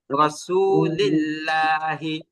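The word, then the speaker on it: رسول الله: Same ভাবে পরবর্তী শব্দেও, রাসূলিল্লাহ। হ্যাঁ, সেম ভাবে পরবর্তী আল্লাহ শব্দের লামের আগে জের আসছে, তাও এটাও আমরা কি করব, চিকন করব। যেমন রাসূলিল্লাহি, রাসূলিল্লাহ।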